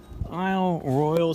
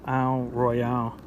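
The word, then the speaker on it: Isle Royale: is it all right let me recount my aisle Royal story real quick that is how you pronounce it not Al Royale okay so at this point I done voyagers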